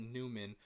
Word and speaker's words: Neumann: i would pronounce it newman but i believe it's pronounced i think neumann because it's german uh neumann uh oh